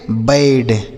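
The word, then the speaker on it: bad: बी ए डी इसे हम पढ़ेंगे बैड।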